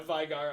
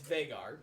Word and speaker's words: Vigar: Because I've mentioned this before, and I should say, it's Vagar. I've just had it as Vigar in my head for so long, because that's how it's spelled, damn it.